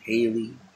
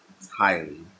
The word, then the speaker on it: Haile: So when I saw that, I was like trying to Haley or like how do you pronounce his name? So eventually, of course, I learned it was highly.